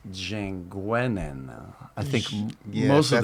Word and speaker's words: Jeanguenin: So the French version is Jean Guenin.